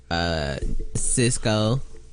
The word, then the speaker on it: Sisqo: Cisco, which is spelled Sisqo.